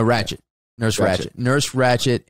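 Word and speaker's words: Ratched: Is it Nurse Hatchet? No, Ratchet.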